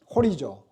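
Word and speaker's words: ὁρίζω: 호리조. 이 호리조라고 하는 헬라어에서 호리즌 뭐예요? 호리즌.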